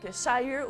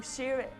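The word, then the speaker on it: Shyre: Donc, Shire ou Sheer, S-H-Y-R-E.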